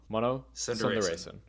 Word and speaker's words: Mano Sundaresan: unfortunately, plug music explainer, now turned party promoter, Mano Sundaresan. Did I say that right? I'll guide you through it. It's Mano. It's Mano. Mano. Sundaresan.